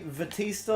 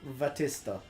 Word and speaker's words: Vatista: dough would my name the Batista or vatista because it's Japanese Batista fair enough yeah it's